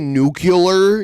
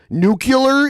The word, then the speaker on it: nuclear: right if you say nuclear you should not be working on the news I'm sorry nuclear is not how it's pronounced it's nuclear look at the word nuke Lee ER I can't believe someone